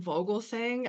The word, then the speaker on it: Vogelsang: I pronounce my name Vogelsang. I know it's Vogelsong.